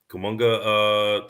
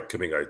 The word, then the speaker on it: Kuminga: Was this like the Kumunga situation in Golden State? What was the situation? Oh, for Kuminga? Kuminga, sorry, Kuminga, I did pronounce that But wrong.